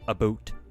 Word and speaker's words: about: Uh some Canadians depending on their accents will will say it as um a boot.